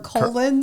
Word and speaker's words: Colonel: The R is silent and I it's said invisible. Colin Sanders.